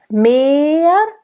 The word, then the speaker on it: mehr: Mehr. And that's a nice closed E.